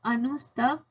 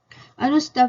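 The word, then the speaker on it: अनुष्टुभ: सो इट्स अनुस्तभ metre, अनुस्तभ metre, spelling is ANUSTUBH।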